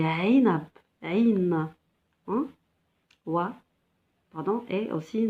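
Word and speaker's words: عنب: C'est pas A. On ne dit pas inab, on dit ainab, ain.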